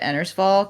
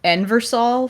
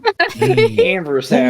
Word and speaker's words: Ennersval: I also had a hard time remembering to pronounce it Ennersval because I always wanted to say Enversal for some reason. Ennersval. Ennersval. Enversal.